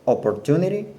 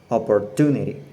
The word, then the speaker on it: opportunity: Well, I used to pronounce all syllables with the same power. For example, I said opportunity in a flat way. Now note that the stress goes on the third syllable, opportunity.